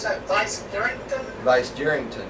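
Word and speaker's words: Vicegerington: Vice Jerrington, right. Jerrington, like Jerry, yeah.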